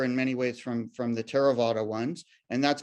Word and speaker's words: Theravada: There's Theravada Buddhism, spelled with a, I'm down here, if you see my cursor, it's spelled with a TH, but it's just pronounced as a T.